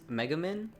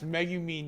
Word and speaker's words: Megumin: think it's Megamin. Oh my god, it's Megumin, you dumb Californian fuck.